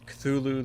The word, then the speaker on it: Cthulhu: This first one is, I pronounce it CTH ULHU, the Cosmic Abyss, coming to PS5, Series X and S, and PC this Thursday for $49.99.